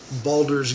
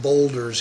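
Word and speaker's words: Baldur's: comparing it to uh balder's gate three balders not boulder's gate i've always pronounced it incorrectly anyway um this is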